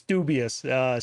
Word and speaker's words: Doobyis: No, people always want to say Doobyis. It's Doobyis. So like Doobyis is a real word.